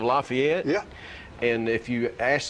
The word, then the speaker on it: Lafayette: Um Lefayet, Tennessee instead of Lafayette.